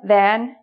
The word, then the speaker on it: than: So pronunciation-wise, these two are often pronounced as then.